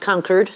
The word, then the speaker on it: Concord: Chris, it's really great to be here and what a delight to be at the I'm told it's pronounced Concord.